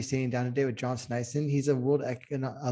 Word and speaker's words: Sneisen: honored today to be sitting down with john snyson actually that's that's how you pronounce that correct yeah that was correct actually